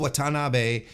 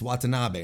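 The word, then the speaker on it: Watanabe: Monae defeated stardom's Momo watan um why did I pronounce it like that it's watab and I know this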